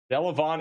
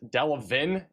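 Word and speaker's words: Delavan: Delavon is Delavin, and Tazwell, not Tazewell.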